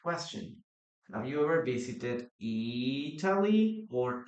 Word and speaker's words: Italy: Have you ever visited Italy or Italy? Yeah, in American English, we usually change the pronunciation of the letter T or the letter D.